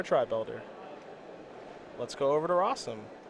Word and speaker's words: Rosum: Let's go over to Rosum, which, as you know, rhymes with possum.